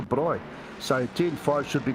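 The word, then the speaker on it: braai: It's um turn five is called barbecue, but of course we know in South Africa there's no such thing. They call it the bri. So turn five should be called bri, not barbecue.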